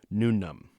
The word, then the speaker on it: No Name: They are Cubert, a slime folk ranger; Discreet, a tiefling sorcerer warlock; Aurora Boris, a dragonborn druid rogue; and No Name, pronounced Nunum, a jack-o'-lantern cleric wizard.